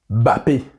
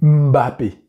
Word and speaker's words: Mbappé: eu l'éclair de génie Mbappé et non pas bapé c'est Mbappé il y a le petit m devant ça c'est un petit